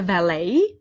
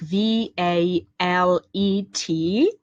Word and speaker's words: valet: person who is the valet uh the word is spelled like v a l e t uh you may come across a person who is called valet and he's the person